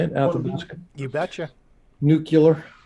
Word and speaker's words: Athabasca: Athabasca.